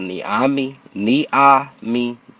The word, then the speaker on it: Nyame: For yeah, everybody out there trying to pronounce it, it's called Niami Fitness, Niami Fitness Training, and it's Nigerian for God, because I'm Nigerian descent.